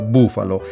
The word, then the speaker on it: Bufalo: Ma l'altro principale successo di Carlo assieme a Dick Fulmine è la lunga saga di Buffalo Bill con una sola F e si pronunciava proprio bufalo.